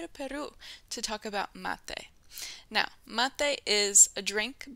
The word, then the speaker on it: mate: One quick pronunciation note, make sure that you say mate, M-A-T-E, or M-A-T-E, not mate. Remember, because mate is that preterite form verb tense of the verb matar, which is to kill, and mate means I killed.